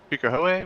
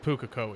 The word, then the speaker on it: Pukekohe: Yeah, I remember last week we ran at Pukehoe, was it called? I believe Pukekohe is the correct. Okay, yeah. I was pronouncing that wrong.